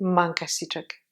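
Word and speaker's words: mankasitraka: On prononce toujours mankasichak. Hein? Là, tac, on descend, toujours ici, le dernier, k, un petit peu léger.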